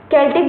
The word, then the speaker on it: Celtic: जैसे हमने बताया है, सी को क से भी डिफाइन कर देते हैं, सी को स से भी करते हैं, सेल्टिक तो कई जगह ये लिखा हुआ है, तो आप लोग कंफ्यूज मत होइएगा, स्पेलिंग हम लिख देते हैं, सेल्टिक होता है CELTIC, ठीक है। केल्टिक बोलिए, सेल्टिक बोलिए, वो वही रहे।